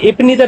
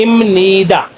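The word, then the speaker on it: 입니다: ये इपनीदा बी अब नीचे नियम से टकराएगा, जैसे कि पीछे मैंने आपको बताया प्रोनाउंसिएशन रूल्स में कि ये मियम की साउंड देता है, इसलिए इसको बोलते हैं इमनीदा।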